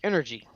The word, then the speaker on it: NRG: So well, it's actually pronounced Energy. Okay, it says NRG, but okay, Energy.